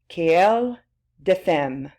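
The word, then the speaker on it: querelle des femmes: Another way of saying this new debate, it's the woman question, or the French way of saying that, quelle de femme.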